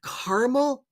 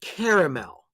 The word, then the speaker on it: caramel: question though is it caramel or is it caramel it's your preference it's your preference both are acceptable pronunciations is it pecan or pecan